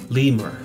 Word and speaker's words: lemur: Cómo decir en inglés lemur lemur se escribe de la misma manera y se pronuncia limer limer y el siguiente animal